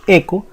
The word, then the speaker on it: echo: reservada que es eco se escribe hecho pero nosotros decimos eco y entre comillas vamos